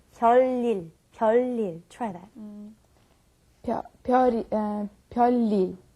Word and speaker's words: 별일: And I noticed that it's hard for me too, but 별일 is very hard to pronounce. Many people have a tendency to go 별일, but we want to say 별일.